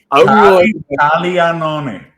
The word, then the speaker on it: Caglianone: Well, you say how do you pronounce Caglione's last name? Caglianone. Yeah, stop that. We gotta stop that right now. Caglianone.